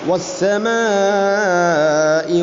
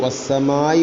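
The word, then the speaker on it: وَالسَّمَاءِ: ഇനി അഞ്ചാമത്തെ ആയത്തിൽ വസ്സമാഇ വമാ ബനാഹ. ഇവിടെ പലപ്പോഴും നമ്മൾ ഓതിപ്പോകുന്നത് വസ്സമായി വമാ ബനാഹ എന്നാണ്. വസ്സമായി ഇങ്ങനെ ആവുമ്പോൾ വസ്സമായി വസ്സമായി. ഇവിടെ ഹംസയുടെ ഉച്ചാരണം നഷ്ടപ്പെടരുത്.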